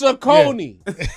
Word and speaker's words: Saucony: It's Saucony.